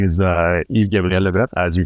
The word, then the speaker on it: Yves-Gabriel Leboeuf: So my name is Yves-Gabriel Leboeuf.